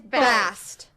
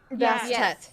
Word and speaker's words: Bast: I love, Is it Bassett or Bast? It's Bast. Bast. I mean, it's both. Someone with something similar, yeah. It can be both depending on how it pronounced, but I believe, it is supposed to be Bast. Sometimes they go Bassett.